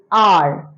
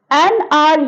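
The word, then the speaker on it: hour: For example, if I'll say an R, here H is silent, an R here H is silent,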